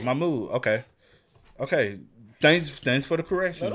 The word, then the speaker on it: Mahmoud: It's been 6 months since I've seen Mahmoud, and Mahmoud.